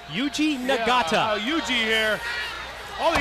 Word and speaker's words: Yuji Nagata: Yuji Nagata.